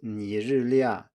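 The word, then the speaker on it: 尼日利亚: So for example, the country Nigeria is Nǐrìlià in Chinese, that's mainland standard, but in Taiwan it's Naijilià instead.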